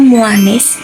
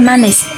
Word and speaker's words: manis: Kata muanis merupakan pelafalan tidak baku dari kata manis. Terjadi penambahan bunyi atau huruf U yang tidak seharusnya.